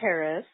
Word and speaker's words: Karis: This is Karis, spelled and pronounced like charismatic, Nimrodita on Ravelry.